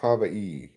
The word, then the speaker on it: Hawaii: Excuse me, it's pronounced Hawaii.